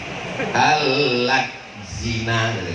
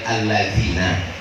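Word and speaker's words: الَّذِينَ: Karena A-nya 2 biji. Al-zina, padahal al-lazina. Karena tak pandai dia mengaji.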